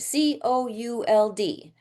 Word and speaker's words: could: and then l d the l is silent.